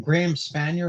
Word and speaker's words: Spanier: Graham Spanier, is that the right pronunciation? Yes. What happened to him?